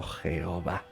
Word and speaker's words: Jehová: aquí yah y Jehová la segunda pronunciada en nuestro idioma como Jehová proviene de incorporar al tetragramatón las vocales de la palabra Adonai a o a y ponerlas ahí conviene